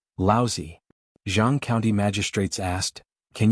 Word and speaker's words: Laozi: Zhang County magistrates frowned and said, Laozi? Li Mu corrected his pronunciation and said, Laozi.